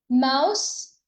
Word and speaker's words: mouse: So, it's mouth with s sound. Mouse. This is the S sound. So, here it's T and here it's it's S sound.